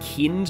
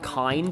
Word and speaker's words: Kind: if you know that it's pronounced kinned not kind even though it looks the same as the english word so it's not actually